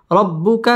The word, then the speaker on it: ربك: ফায়ুতিকা র পুর হবে রব্বু বা তাসদীদ ওয়ালা হরফ রব্বুকা ফাতার র পুর হবে ফাতার দ একা লিফ টান দিয়ে ওয়াকফ করতে হবে ওয়ালা সাউফা ইউতিকা রব্বুকা ফাতারদা ولا سوف يعطيك